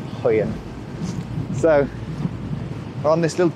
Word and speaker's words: Højen: And again, my pronunciation is terrible, but we parked up in a little village called Hoyen. So I think J's are pronounced a bit like a Y. Hoyen.